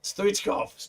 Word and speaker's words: Stoichkov: you told me, I would have guessed Hristo Stoichkov. Yeah, that's not far off. Like the American pronunciation, that's usually how he gets pronounced. What is it? Hristo Stoichkov? Stoichkov.